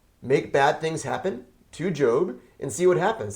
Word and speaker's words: Job: Job, not pronounced Job, but Job is a book in the Old Testament referring to a person named Job that the book is about.